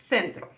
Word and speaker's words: centro: So it's important to know that this th and thi are pronounced like a th in English in all of northern Spain. So it's going to be ciudad and centro.